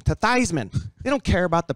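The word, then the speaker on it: Theismann: old town Joe Theisman Joe Theisman his name is really these men uh-huh and when he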